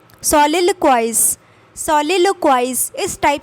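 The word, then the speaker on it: soliloquize: सोलिलोक्वाइज, सोलिलोक्वाइज, सोलिलोक्वाइज, इस टाइप से आप पढ़ेंगे।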